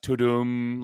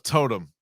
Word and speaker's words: Tudum: And it's sort of pronounced Totem, like the Netflix sound. I thought it was Totem.